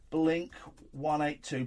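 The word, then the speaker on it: blink-182: How is blink 182 pronounced?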